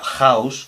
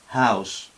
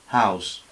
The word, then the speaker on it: house: De tal forma que, por ejemplo, esto mal dicho sería house, con una especie de J, y en realidad no es una aspiración de aire muy suave, una J pero muy suavizada, house, house, house, o hot, hot.